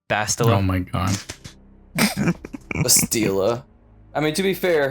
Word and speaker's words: Bastila: Kashyyyk, Kashyyyk, Taurus, Bastila, Bastila. Oh my god. Bastila. I mean, to be fair, her name is like Bastille, the actual world.